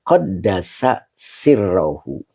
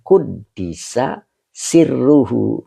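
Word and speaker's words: قدّس سرّه: Nah, ini ada dua pendapat. Ada yang bacanya qaddasa sirruhu. Ada juga yang bacanya kuddisa sirruhu.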